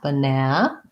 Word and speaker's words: banana: talk about syllable stress it has second syllable stress and even though it has three letter a's it has the schwa in the first syllable sounds like ba and it's short then i have my